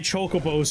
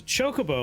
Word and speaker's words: chocobo: Don't get your choco bows in a twist. Pronounce chocobo like the start of chocolates.